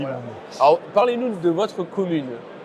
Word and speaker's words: Montner: Ouais, on devrait dire Montner, mais on dit Montre.